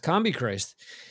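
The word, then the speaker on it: Combichrist: Combi Christ released a double album, which is CMB CRST, which is pretty much pronounced Combi Christ.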